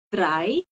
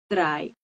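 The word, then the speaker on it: drei: lagi a yang ketiga adalah dry ingat ya ei I bacanya jadi ai dry kemudian eh yang keempat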